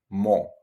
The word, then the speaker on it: mo: would say like in most languages you just round your lips and you say mo and you finish with